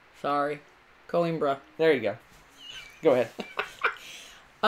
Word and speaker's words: Coimbra: You're making me look bad the way you pronounce that, because I can't roll my R. Sorry. Coimbra.